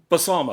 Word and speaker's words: Balsamo: That's James Oh, James Balsam. James Balsamo. Oh, Yes, I always say his name wrong.